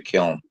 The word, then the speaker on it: Kiln: Kiln, Kiln, the Kiln. That's how they Kiln. pronounce it. Kiln.